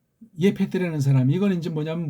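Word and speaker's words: יפת: 이걸 예페트라고 번역해야죠. 예. 서양 애들의 이제 규정을 전제로 하더라도 예페트 이거잖아요. 예펫, 예펫, 예페트. 근데 이거는 뭐예요? 야벳이라고 하잖아요. 야, 패도 아니야 패. 일본 소리라고 그랬잖아요. 제가 이게 왜 피읍 발음을 못해?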